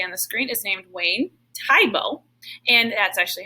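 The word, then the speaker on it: Wayne Thiebaud: you can see on the screen is named wayne tyboe and that's actually how you pronounce his name kind of sounds like a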